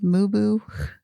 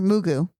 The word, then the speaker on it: Mugu: Mubu? No, I'm saying it right. The Mugu? beach there, Mugu.